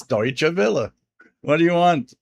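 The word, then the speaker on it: Deutsche Welle: The H1A says you pronounced Deutsche Villa. 100% correct. Amazing. It's Deutsche Villa.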